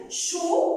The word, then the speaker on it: chaud: Chaud, ici, je chaudais. Alors, c'était, je peux la trouver en transformant ce mot ou bien en cherchant le féminin. Chaud, chaude.